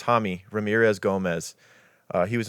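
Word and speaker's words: Jaime: Uh Hami. I think it was Hammy Ramirez Gomez.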